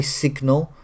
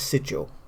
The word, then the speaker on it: sigil: I used to say sigil, but I think it's sigil.